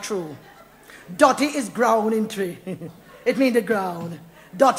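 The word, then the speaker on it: Twi: that come from a nice African language name tree you hear it name tree yeah man it spelled tww but it pronounced tree a one good language and make me tell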